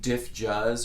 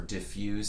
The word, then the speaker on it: Dif Juz: this band a 4ad diff jazz or diffuse some people pronounce it kind of ambient almost